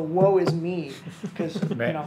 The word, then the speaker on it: Woisme: I'll spell it Woisme. I'm pretty sure that was pronounced the woe is me.